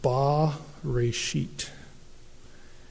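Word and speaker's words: בְּרֵאשִׁית: like a capital T and it would be pronounced ba re sheet let's call in Hebrew the definite article just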